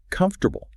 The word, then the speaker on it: comfortable: Take the word comfortable. Tech Technically it's four syllables, right? Comfortable, right? But a native speaker drops an entire syllable and just smashes the consonants together saying comfortable.